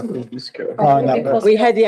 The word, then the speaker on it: Kosciuszko: And Kosciuszko. Kosciuszko. Kosciuszko.